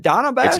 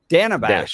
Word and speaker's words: Dana Bash: how do you pronounce is it Donna bash it's Dana Dana Bash short yeah short a bash Dana Bash Dana Bash